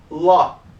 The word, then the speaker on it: law: seja lei em inglês Law aí você vê que se escreve essa palava então uma dica quando você encontrar essa letrinha a e a letrinha w junto você vai ter o som o então aqui já é